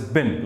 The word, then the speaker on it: been: Now B-E-E-N is not pronounced as been, B-E-N is pronounced as bin, like dustbin.